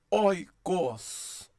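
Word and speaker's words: οἶκος: Oikos, oikos.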